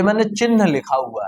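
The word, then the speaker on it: चिह्न: इसको कैसे पढ़ेंगे, इसमें आधा हा है और हा पहले है और ना बाद में, उसको पढ़ेंगे चिन्ह, इसको पढ़ेंगे चिन्ह, मतलब हा पहले बोलेंगे और ना बाद में बोलेंगे। तो चिन्ह, सही जो उच्चारण होता है वो चिन्ह होता है, मतलब ना बाद में आना चाहिए।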